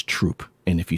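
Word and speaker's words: Throop: I there's a town right next to me that's spelled t HR o o p it's not Thro it's troop and if you say througho people yell at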